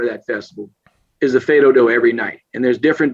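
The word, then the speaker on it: fais do-do: Okay, Fedodo.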